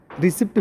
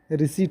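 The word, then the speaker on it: receipt: रिसिप्ट भी पढ़ देते हैं, रिसिप्ट पढ़ते हैं, वही है, कॉपी में निकलता है जो रिसिप्ट, वही चीज़ है, लेकिन उस वास्तव में उच्चारण जो होता है रिसीट होता है, प्राप्त करना होता है।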